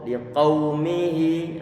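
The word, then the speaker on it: لقومه: Sehingga kita mengucapkan qau. Berhubung di situ ada wawu sukun, walaupun sebelumnya ada fathah, maka nanti akan terdengar suara u. Pengucapan yang sempurna ada dengan kita mengunyungkan bibir kiri kita.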